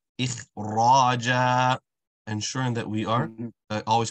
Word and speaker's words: إخراجا: You want to ensure the jim is stretched for the same way. إخراجا.